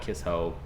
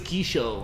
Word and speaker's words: Kisho: it's spelled okay and i actually called it kiss hoe for a long time my wife's like i think it's kisho and i'm like it